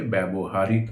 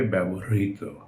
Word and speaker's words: ব্যবহৃত: ব্যবহৃত, ব্যবহৃত আমরা ভুল করে ব্যবহারিত উচ্চারণ করে থাকি, এটার উচ্চারণ হবে ব্যবহৃত।